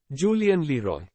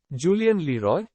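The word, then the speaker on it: Julien Leroy: on the first X Julian Leroy Julian Leroy will put stress on Roy here the learner will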